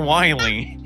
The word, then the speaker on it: Wily: him I was like it's not Dr willing dude it's Dr Wily so now became an